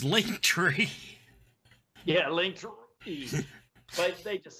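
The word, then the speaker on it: Linktree: are sean whalen actor you cannot actually pronounce that it's link tree yeah link but they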